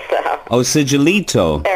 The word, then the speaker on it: Sigillito: Am I pronouncing your name correctly? Very close. It's Sigillito. So. Oh, Sigillito.